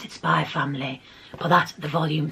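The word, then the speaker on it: Spy × Family: I call it Spyfamily. I know there's an X there, but I don't pronounce the X.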